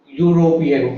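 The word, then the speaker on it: European: तो ए और एन यूरोपियन का उच्चारण यूरोपियन यूरोपियन यूरोपियन ऐसा होता है। कास्टेंट कंसोनेंट प्रोनाउन साउंड है इसमें।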